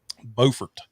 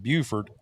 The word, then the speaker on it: Beaufort: basically a little town called Beaufort, which South Mhm. Carolina has the same town, except they call it Beaufort. We call ours Beaufort, spelled the same, different pronunciation.